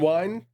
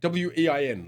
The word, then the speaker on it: Wein: There's also apparently Len Wein is, how do you say it? W-E-I-N, Len Wein?